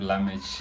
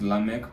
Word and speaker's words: Lamech: Lamek O, but sometimes you call yourself Lamesh. Lamesh. Yeah, like I I like Lamesh. Yeah. But yeah, basically I I use Lamech because I feel like it's easier for people to pronounce it than Lameshi.